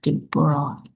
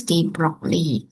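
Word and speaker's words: de Broglie: if I'm not mistaken his name is Louis de Broy of course if we if we pronounce in Bahasa is Louis de Broccley no actually it's the broad okay he comes to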